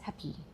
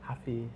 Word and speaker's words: happy: happy the queen says happy happy yeah she pronounced the y Yeah. Yeah. Yeah. Why happy? I can't even do it. Happy. Because happy should be long long vowel.